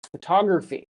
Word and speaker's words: photography: Photography.